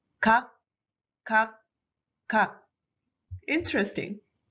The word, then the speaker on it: 각: So you should read these three as just one sound. Kak, kak, kak.